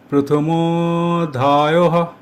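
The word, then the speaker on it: প্রথমোঽধ্যায়ঃ: উচ্চারণের ক্ষেত্রে ম এর উচ্চারণ দীর্ঘ হবে। ম উচ্চারণ করতে যতটা সময় লাগে তার চেয়ে কিছুটা বেশি সময় নিয়ে উচ্চারণ করতে হবে। উচ্চারণটি হবে প্রথম অধ্যায়হ। প্রথমধ্যায়হ। প্রথমধায়হ।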